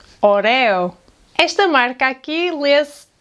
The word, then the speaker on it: Oreo: These cookies are “ÓREO”. “ÓREO”.